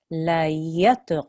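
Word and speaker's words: لِيَطْغَى: Okay, so the way that you would pronounce this is La yatgha.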